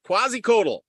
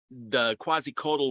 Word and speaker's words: Quetzalcoatl: I'm going to be talking about Quetzalcoatl, or you can pronounce it a bunch of different ways, but Quetzalcoatl was, quasi.